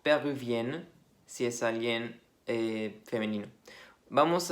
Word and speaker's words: péruvienne: En masculino termina un poco como si fuera una A, péruvien, y el femenino sí, más suena como una E, como está escrito ahí, péruvienne.